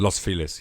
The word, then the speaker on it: Los Feliz: Los Feliz, yeah.